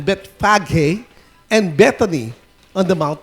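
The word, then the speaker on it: Bethphage: Bet sabi Bethfage pero gamitin natin 'yung talagang ano pronunciation Bethfaghe and Betony on the Mount of Olives.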